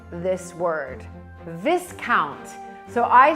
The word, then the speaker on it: Viscount: on his credit card, it said this word, Viscount. So I said to him, why does your credit card say Viscount? And he looked at me slightly in horror and said, it's not Viscount, it's Viscount.